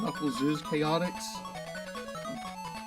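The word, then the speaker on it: Knuckles' Chaotix: You know, it's pronounced Knuckles is Chaotix.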